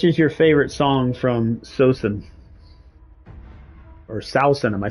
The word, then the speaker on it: Saosin: Is it Sosin or Sausen? So we'll just click on You're Not Alone. BTW, maybe I can help you out with your branding / graphics. Bury your head. Bury your head. It's pronounced Seosin.